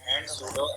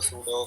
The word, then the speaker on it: pseudo: मतलब ये मैंने बता दिया है, कहीं गलती से सूडो क्लासेज सूडो एलिमेंट नहीं प्रोनाउंस करना है तो दूसरा सूडो क्लासेस और सूडो एलिमेंट्स प्रोनाउंसिएशन है।